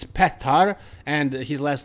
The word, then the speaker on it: Petar: to pronounce his name so it's not pitar it's not peter it's pethar and his last name